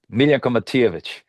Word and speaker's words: Miljenko Matijevic: Am I pronouncing it right? Yeah, that's perfect. Miljenko Matijevic.